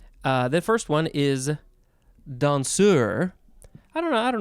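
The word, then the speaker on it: danseur: the first one is dansur i don't know i don't know how we want to say this you could say don sir dansur how how appropriate dansur it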